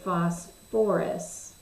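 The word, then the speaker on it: phosphorous: phosphorus we're gonna say phosphorus acid so sulfur and phosphorus are the only two that kind of bring back that extra syllable so instead of it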